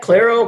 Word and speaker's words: Claro: water price solutions how do you say that Claro Claro Enterprise Solutions I want to screw it